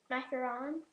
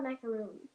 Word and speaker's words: macaron: i can't think of macaron mecca the same one you just said it differently no macaron is a different it's not it's not a macaroon it's the same thing pronounced differently okay i bet you it's